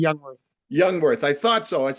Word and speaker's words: Jungwirth: your last name It's actually youngworth youngworth I thought so